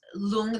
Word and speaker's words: lung: L o OMG but we actually write it like lung like Lu ng but it's long that means winds and